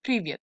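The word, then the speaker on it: Привет: for example this strange looking word here is pronounced privet which means hi in english this will make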